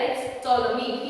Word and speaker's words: Ptolemy: See the pronunciation there, it's Ptolemy. He silent. He established the dynasty of Ptolemy.